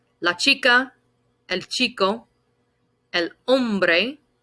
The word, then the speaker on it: hombre: chica el chico el hombre when we pronounce this word the h is silent more often than not